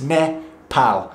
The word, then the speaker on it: Nepal: If anyone's wondering, by the way, why I'm saying Nepal, it's because after 3 months of saying Nepal, as I was saying previously in my English accent, people kept telling me, Will, you're saying it wrong, it's Nepal.